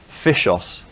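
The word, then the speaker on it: FyshOS: days Linux distribution called fishos spelled with a Y um okay the story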